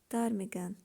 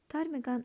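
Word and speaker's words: ptarmigan: white inventor one kind of bird it's called tarmigan tarmigan also we don't pronounce letter b it's a kind of bird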